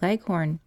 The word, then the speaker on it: leghorn: Shanghai's in the white leghorn phoebe when she pronounces this word leaves out the h embarrassed i'll heavily on the last syllable so that it rhymes with be gone as i was sitting